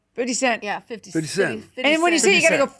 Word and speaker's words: 50 Cent: coin it's like good you got to end it on the T 50 Cent yeah 50 and when